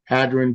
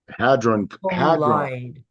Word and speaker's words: hadron: colander yeah yeah the collider it's a collider hadrin collider under yeah it's actually underground too why